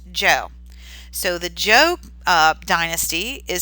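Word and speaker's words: Zhou: a really complicated word but it actually is pronounced Jo so the joke dynasty is second they will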